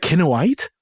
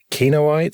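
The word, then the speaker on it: Kinoite: that what it is is it kinawite I believe so quinoa white something like that there's lots of people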